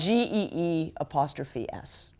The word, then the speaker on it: Gee's Bend: My pronunciation. The youth will know. Terrible. The youth will know. It's GEE''S.